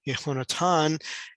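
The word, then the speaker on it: יהונתן: name of jonathan uh into the way it's pronounced in hebrew of yehonatan and the first part is the yud and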